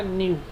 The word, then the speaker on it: nu: ये ऐसा जो साइन बना हुआ है इट इज़ न्यू, इसको बोलते हैं NEU, प्रोनाउंसिएशन है इसका न्यू।